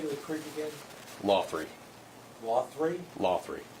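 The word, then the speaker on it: Laughery: Lothry. Lothry? Lothry. Like a TH in there as well? Lothry. Lothry. Just say it that way, even though it doesn't spell that way.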